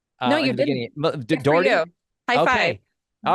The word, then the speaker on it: Dougherty: Now, I might have said your last name wrong. No, you didn't. Dougherty?